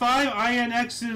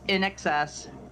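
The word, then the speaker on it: INXS: Bello too yeah no INX is uh Michael no no no NOP nope you said it wrong it's nxs nxs okay Michael Hutchinson pled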